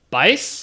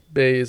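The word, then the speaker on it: Baise: Uh, Bice. Is is that how you say his name? I don't even I think it's just Baze and it's a girl.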